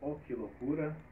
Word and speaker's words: Oki Lookura: Que é banda O Que Loucura. É, se escreve O-K-I-L-O-O-K-U-R-E, né?